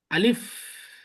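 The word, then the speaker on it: ألف: আমাদের আলিফ এবং হামজা এই দুইটা করতে হবে তাড়াতাড়ি উচ্চারণ, মনে রাখতে হবে কিন্তু। এই আলিফ আর এই হামজা, এই দুইটা তাড়াতাড়ি উচ্চারণ, আর বাকি সব ধীরে ধীরে টেনে টেনে উচ্চারণ করতে হবে।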